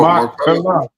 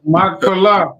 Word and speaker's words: Machpelah: me a cave in Machpelah. I'm saying that wrong. That's dead on. Oh, Machpelah. Okay. I thought I butchered that one. So everybody. Yeah, Machpelah.